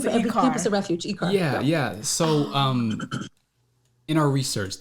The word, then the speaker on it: ICAR: and So going back to ICAR, am I pronouncing her ICAR right? Yeah. It's the acronym for every campus of refuge. ICAR.